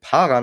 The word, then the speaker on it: Paran: explizit was paran ist ja es wird paran ausgesprochen ich fahr an ja